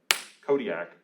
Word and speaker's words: Kodiak: strong crisp true rhyme kodiak is a proper noun right which is it's a proper noun it's a three-syllable noun too so i think part